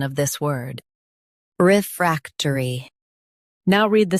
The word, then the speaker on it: refractory: Refractory. Emphasize frac and soften turi.